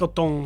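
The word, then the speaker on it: Otton: his respect auton Aon I was sing aong it's Aon Aon hi I'm Aon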